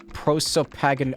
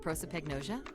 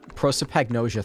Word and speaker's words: prosopagnosia: to guess but he never heard the word pro so pagan i don't know how to say it what you've never heard of prosopagnosia prosopagnosia thank you lotus spun around in her chair